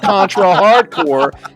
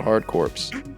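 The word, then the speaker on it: Contra: Hard Corps: pushing your political agenda not pronouncing the p and s and contra hardcore every time we get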